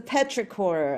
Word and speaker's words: petrichor: It's a petrichor.